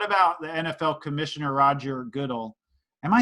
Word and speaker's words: Goodell: But what about the NFL Commissioner Roger Goodell? Am I saying his name right? No. I thought it was Goodell. It's Goodell. This tells you how much I know about football.